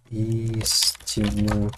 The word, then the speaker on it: истину: нам сил здесь истину здесь ударение прямо на первый слог истину же мы говорим